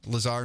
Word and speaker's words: Lazar: is out of your pronounces name Lazar not laser right which is really